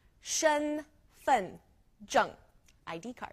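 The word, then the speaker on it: 身: J ID card so Shen pretty basic s h e n Shen it's first tone so our tone marker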